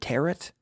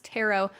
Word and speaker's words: tarot: Also, interesting, not pronounced tarot. No. For a very long time, even when we were doing this podcast, I always in my head said tarot, like carrot. No, it's tarot.